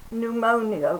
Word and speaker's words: pneumonia: This one is pneumonia with a silent P.